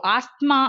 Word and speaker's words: asthma: Okay, so the TH in asthma, இந்த ஆஸ்மால இருக்க THன்ற அந்த வேர்டோட sound normally dash silent the letters are not pronounced. So asthma அப்படின்னு நம்ம சொல்றோம்ல, ஸோ அந்த THன்ற வேர்டுக்கு வந்து எக்ஸாக்டான அந்த ப்ரொனன்சியேஷன்ல அது நமக்கு வரல.